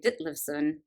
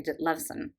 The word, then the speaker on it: Ditlevsen: I was saying Tove Ditlevsen, which as I'm saying it out loud, it makes much more sense to say Ditlevsen.